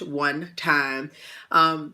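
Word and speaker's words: 1TYM: time now one time they spell it with the number one and in a capital tym it is pronounced one time they are or was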